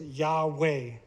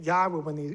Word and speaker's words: Yahweh: These form the name Yahweh when you sound them out. Yahweh, Yahweh. So if you sound them out, you get Yahweh according to scholarship and according to, we can even look at the sounds ourselves.